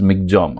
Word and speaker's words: Michaung: So that time this cyclone name, first you have to know, this is pronounced as this Michaung. Okay, cyclone Michaung.